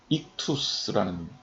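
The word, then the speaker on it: ἰχθύς: 근데 왜 제가 물고기 그림을 보여드리냐면 이 물고기가 히라보로 익투스라는 겁니다. 이걸 발음하면 익투스예요. 익투스 정확하게.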